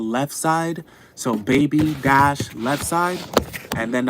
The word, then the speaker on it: BBY: right now uh they're called baby uh it's spelled BBY y so baby spelled BBY and um they have